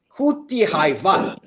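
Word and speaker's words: Kuthiraivaal: Kuti Haivan. Not bad at all. It's just maybe it's a more Kudi Rai than Hai, but otherwise it was a great attempt to pronounce it right.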